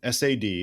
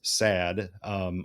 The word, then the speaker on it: SAD: establish that first the sad and it was never pronounced as sad unlike many acronyms that become the word they look like it was always sad